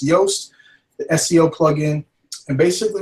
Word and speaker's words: Yoast: yast SEO plugin um it's real easy for me to remember because it rhymes with toast now why yast and toast stick in my head I don't know but if it works for me maybe it'll work for you so it's yoast the SEO plugin and